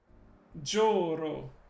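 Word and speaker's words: じょうろ: Joro. So, Jo. It's like a long O sound.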